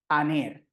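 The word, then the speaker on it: ἀνήρ: palabra, y dice que ese espíritu suave, o también se le conoce como espíritu débil, no se pronuncia, o sea, simplemente aquí leeríamos la vocal sin problema. Aner, aner.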